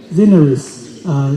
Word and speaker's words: Zineris: And last but not the least, Miss Sarah, how to pronounce? I'm sorry. Zineris. Am I correct? Yeah. Sorry for misspelling. Yeah. Zineris.